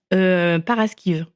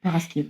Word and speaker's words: Paraskive: Ah oui, Paraskive. En fait, souvent, c'est para comme un parachute, paracommando. Les Français, ils préfèrent paracommando, bizarrement. Et skive comme, pareil, skive en bruxellois. On sait. Paraskive.